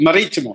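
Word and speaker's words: Marítimo: So Club Maritimo, am I pronouncing it correctly? Yeah, Maritimo.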